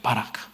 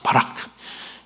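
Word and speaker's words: ברך: 바라크. 이런 단어 하나 정도는 합시다. 바라크. 허 중간 발음.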